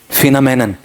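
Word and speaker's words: phenomenon: अगले पार्ट पे आओ, the scientist maintain that the फिनोमेन, हाँ इसका उच्चारण करो, फिनोमेनन।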